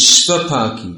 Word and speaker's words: Shvapaki: And another word is Shvapaki. Shva means dog. It means those who cook dogs. So get your pronunciation right. Svapaki means one who is very strict in his eating, and Shvapaki means they eat dogs.